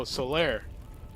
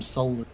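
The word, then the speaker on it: Solaire: um soter my bad oh Solair Solair my bad my bad I apologize for pronouncing it I just got I would always just call him solar yeah we haven't really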